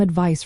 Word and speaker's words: advice: Advice ends with an S sound like ice, while advise ends with a Z sound like realize.